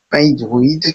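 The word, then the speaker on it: Pydroid: Et une fois que nous y sommes, nous allons rechercher P hydroïde qui s'écrit PY D R O I D.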